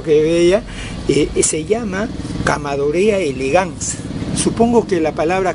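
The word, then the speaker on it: Chamaedorea: Se llama Camadorea elegans. Supongo que la palabra cama es pequeño. Eso no supongo, tengo la seguridad. El término cama se escribe chama, quiere decir pequeño.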